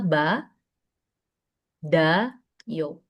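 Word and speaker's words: 받아요: Tapi ketika dibaca bacanya itulah ba da yo.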